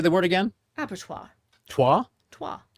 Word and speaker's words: abattoir: Abatto. As in like French.